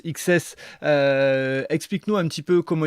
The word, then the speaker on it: XCSS: explique-nous ce qu'est ce projet xcss qui se prononce XS explique-nous un petit peu